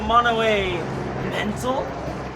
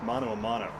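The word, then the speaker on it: mano a mano: boys want to go mono a mental you're actually saying it wrong it's mono amano a spanish phrase used by matthew not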